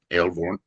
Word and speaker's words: Aelvorn: Aelvorn? Yeah, pronounce each of the vowels and you're good. Okay. Aelvorn.